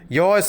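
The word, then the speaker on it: your: யுவர்ன்ற சொல்லிட சரியான உச்சரிப்பு யோன்னு சொல்லணும். யோர் smile.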